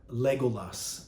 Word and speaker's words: Legolas: coined that term again three syllable words that have accented first syllables L beneath Legolas Aragorn Arwen Saruman Erebor